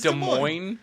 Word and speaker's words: Des Moines: It's It's Des Moines. If you look at it on paper, it's Des Moines. There's too many S's that aren't Yeah.